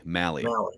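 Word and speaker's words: Mahle: What do we pronounce it? Molly or Mally? Mally. Mally.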